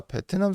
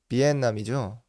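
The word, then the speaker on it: Việt Nam: 베트남 쌀국수를 얘기하다 보니까 이게 갑자기 떠오르는데, 베트남이라는 말을 우리나라랑 일본 이렇게 두 나라만 베트남을 베트남이라고 발음을 한다고 하네요. 이게 뭐 듣기로는 일본의 영향 때문에 원래는 베트남이 아니라 비엔남이죠.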